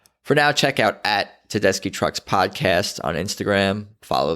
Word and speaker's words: Tedeschi: of the way it's te d es CH i pronounced ki not chee it's an Italian pronunciation Susan Tedeschi that's out